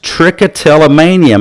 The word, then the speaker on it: trichotillomania: But what is trichotillomania? My dad would call that a $7 word. Trichotillomania. See, there's 7 syllables.